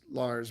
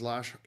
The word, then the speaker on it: Lars: Um, it's funny in English his name is Lars, but in Norwegian it's pronounced Lash Lash Hovard.